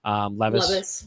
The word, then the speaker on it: Levis: Levis.